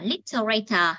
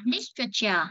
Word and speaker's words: literature: Cái câu A là cái câu mình hay nhấn sai nhiều nhất, mình hay đọc là literator, là mình đọc không đúng. Mình đọc đúng phải là literature. Literature nó là vần 1.